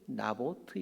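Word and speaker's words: Naboth: 참 짠한 마음이 들죠이 나봇의 히브리어 발음이 나보트 있니다 그러고 보니까 아 성은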